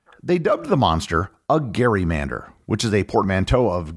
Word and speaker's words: gerrymander: They dubbed the monster a gerrymander, which is a portmanteau of Gerry and salamander. The original term was pronounced Gerrymander as it was named after the governor Elbridge Gerry.